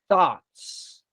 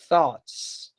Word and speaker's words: thoughts: We are not used to have this sound here, like thoughts. You have to have your tongue in between the teeth to say thoughts. Most of the times in Brazilian people, we say thoughts.